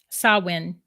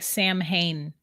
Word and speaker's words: Samhain: Samwinophobia, Samhain. Samhain. It's spelled Samhain. It looks like Sam Hain, but the way you pronounce it is Samhain.